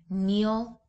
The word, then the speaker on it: kneel: When the letters KN are together in words that are of Anglo-Saxon Old English origin, they are pronounced N, as in kneel, night, and knife.